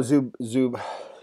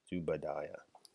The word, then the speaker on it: Zubaidah: The complaint against her is centered on the case of Saudi national Abu Zubaidah. I thought it was Zubaidah, even though it doesn't spell that way.